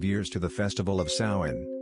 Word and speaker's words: Samhain: back thousands of years to the Festival of Sawan pronounced suwen so we nor saw when the Celtic New